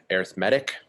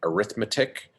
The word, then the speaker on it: arithmetic: let you know uh this word and this form is pronounced arithmetic it's not arithmetic um so this is